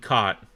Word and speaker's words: caught: So say for example you got rough cough caught. So rough, cough, and cot. So rough and cough are pronounced the same, but cot the gh is silent.